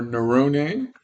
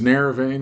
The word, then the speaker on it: Naravane: This is our Nerone. That's the authentic pronunciation of my last name. We've Americanized it to Naravane, which is fine. Call it Nerone, call it Naravane. It's perfectly fine.